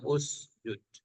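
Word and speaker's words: اسجد: kasih Alif Alif penolong dibacanya usjud ya bersujudlah engkau bukan isjud dibacanya Karena huruf tengahnya u j kalau huruf tengahnya u Nanti alifnya dibaca u huruf tengahnya A atau I alifnya dibaca i contoh misalnyaamu tanya engkau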